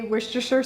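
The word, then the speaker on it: Worcestershire: reason that we learned how to properly say Wisher sauce and I know people have other opinions on how to say it whatever yeah it probably varies from Street to Street in London but completely but the reason that we have some semblance of how to say it at least is because in my first videos here on this channel I I couldn't say it at all we would call it like w sauce or rooster sauce completely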